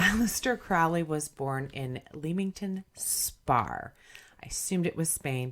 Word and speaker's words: Leamington Spa: an abbreviation for Spain but it's pronounced spar oh yeah Aleister Crowley was born in Leamington Spa I assumed it was